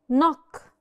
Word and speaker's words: knock: letter is K no the K is usually silent when it's followed by n okay sign sign I could tell it's sign because usually the G is silent sign sign knock knock I'm knocking on